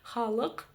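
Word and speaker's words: халық: Буква читается очень коротко, в отличие от русской версии. Чтобы прочитать букву К с хвостиком снизу, нужно просто отхоркнуться через букву К обыкновенную.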